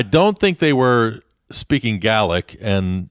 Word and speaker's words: Gaelic: think they were speaking gaelic and in scotland it's referred to as gaelic rather than gaelic which is in ireland so that you at least get that pronunciation right and the languages are